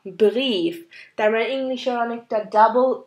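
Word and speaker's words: Brief: এটা আসলে আই আর ই একসাথে হলে আমরা প্রোনাউন্স করি ই হিসাবে। আই আর ই একসাথে থাকলে এটার প্রোনাউন্সিয়েশন হবে ই। আর এখানে একটা এক্সাম্পল, যেমন ডেয়া ব্রিফ, ডেয়া ব্রিফ।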